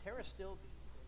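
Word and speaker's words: pterostilbene: as n are with terrorists still being with Rivera that's an interesting thing Tara still and it's spelled with a P begins with a P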